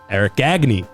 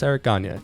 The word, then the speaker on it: Gagne: This was the last relief pitcher to win Cy Young, Eric Gagne.